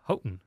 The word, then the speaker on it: Houghton: Well, but that's definitely a commonly mispronounced one, though. It is definitely Houghton.